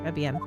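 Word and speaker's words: Trés Bien: oh is is it Tre trean trebian the S is silent yes it's a restaurant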